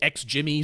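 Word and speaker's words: XGIMI: I mean, it should be Jimmy, but the ex Jimmy, so you know how it's spelled. Yeah. or since everyone online hates a soft G sound. It's got to be a hard G if it's spelled with a G these days.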